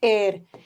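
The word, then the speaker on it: heir: लेकिन ये वर्ड जो है ना इसको हेयर नहीं पढ़ोगे। इसको हम पढ़ते हैं एयर।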